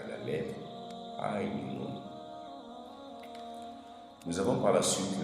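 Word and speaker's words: ع: J'utilise ma gorge et je la ferme pour faire sortir ce son. Ainun. Ainun. Aïn.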